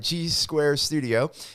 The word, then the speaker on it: G Squared Studio: part of this episode with Garrett Gundal from G's Square Studio and let me just say it right, G's Square Studio.